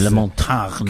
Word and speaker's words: Ray LaMontagne: Ray LaMontagne. Correct pronunciation.